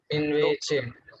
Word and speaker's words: invece: Correct, in che, because you are actually referring C and E is che, so Okay. in che. So Invece.